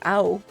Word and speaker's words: Ao: If you don't know, my name, which is Ayo, it's not pronounced as Ayo, it's pronounced as Ao, and that is blue in Japanese.